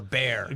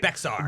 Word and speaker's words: Bexar: Kirkendall or Bear County, right? Looks like Bexar.